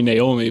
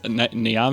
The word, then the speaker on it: Niame: I want to say Naomi, but it's Niame.